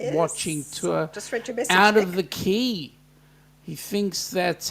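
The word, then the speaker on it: Quay: tour out of the key he thinks that's how you spell it pronounced like key key and that is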